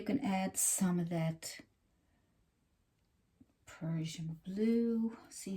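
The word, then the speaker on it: Prussian: r u SS i n i a n Persian blue I want to pronounce it right for you so you know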